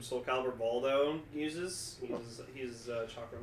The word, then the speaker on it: chakram: A chakran. Chakram. Chakram? Yes. Yeah, chakram. That's what it's pronounced.